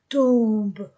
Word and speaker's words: tombent: E n t du verbe ne se prononce pas tombe.